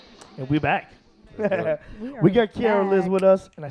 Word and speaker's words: Kiaraliz: We got Kiaraliz with us, and I said it right that time.